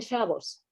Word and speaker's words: Shabbos: escribe como el hebreo, pero, por ejemplo, dicen Shabbos, porque antes de que se regularizara el idioma